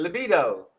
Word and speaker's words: libido: isn't it wrong but you put the emphasis on the wrong syllable and i know i